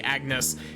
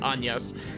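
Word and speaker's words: Agnès: been I've been actively trying to not say Agnes cuz I've like that's how I read it for the entire first time I played this game despite the fact that it obviously pronounced anas he didn't tell me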